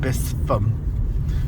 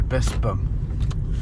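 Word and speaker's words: Bispham: was called Gin Square, just as I used to think that Bispam was called Bispam because it's got a ph and a lot of people call it Bispam, but it's actually Bispam.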